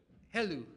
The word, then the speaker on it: Helou: Is that how you pronounce it? Helou? Helou, okay.